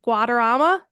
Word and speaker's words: Guadarrama: mess up your last name let me say Guama yeah you said it right Guama AKA look